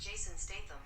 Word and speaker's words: Jason Statham: That's pronounced Jason Statham.